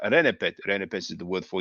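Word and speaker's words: rnpt: So the consensus of Egyptology is to add vowels between the consonants. So here we have R, N, P, T. We'll pronounce that Renepet.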